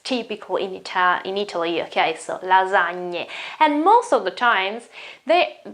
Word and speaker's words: lasagne: It's not lasagne, it's not lasagne, it's not lasagne, okay? It's lasagne, okay? We have already talked about this sound here, gn sound. That is typical in Italy, okay? So lasagne, and most of the times this word here